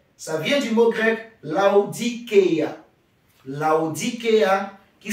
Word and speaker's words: Laodikeia: Laodicée, ça vient du mot grec Laodikeia. Laodikeia qui s'écrit L-A-O-D-I-K-E-A.